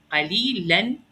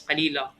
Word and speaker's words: قليلا: But قليلا, you see how it added an alif? So what I would say is قليلا. Just pronounce the alif.